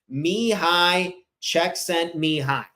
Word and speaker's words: Csikszentmihalyi: to pronounce it actually so me high check sent me hi this is a Hungarian